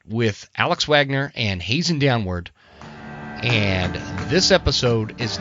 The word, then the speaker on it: Downward: your last name exactly it's downward just like downward spiral oh okay perfect so